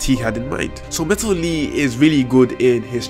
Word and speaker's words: Metal Lee: Anyway, the highlight of the episode is Metal Lee, or Metaru Ri as they call it in Japan, because they can't pronounce an L, which goes to Boruto